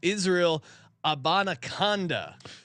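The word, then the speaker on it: Izzy Abanikanda: Sean here to help you pronouncing Izzy A on the Jets. It's Israel Abanaconda.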